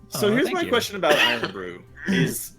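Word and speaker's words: Irn-Bru: yeah it's it's not it's not N Brew it's iron Brew no is ear Brew I said it wrong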